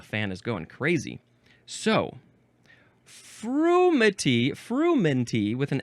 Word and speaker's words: frumenty: Frumenty or fermenty? Huh. Oh, well, it's spelled a couple of ways. Fermenty, that's the second one. So the first one is frumenty, frumenty.